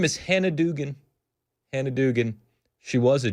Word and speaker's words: Dugan: Judge Hannah Dugan was that judge in, it was Wisconsin. That's the proper pronunciation in case you're keeping score at home.